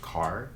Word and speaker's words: Kerr: Deborah, I believe it's pronounced Carr, Deborah Kerr. It's spelled Kerr, but I think it's Deborah Carr, could be mistaken.